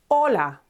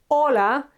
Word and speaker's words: hola: Okay, so hola is written with an H, but as I said, H is always silent, so we don't pronounce it.